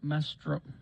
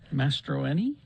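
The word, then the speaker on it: Mastroeni: to the coach uh head coach pablo uh maestro boy i'm gonna have to learn how to say his last name mastroini yeah head coach pablo coming up from our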